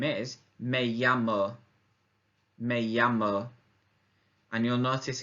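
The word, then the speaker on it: me llamo: to say I'm called or my name is may yama may yama and you'll notice again it's a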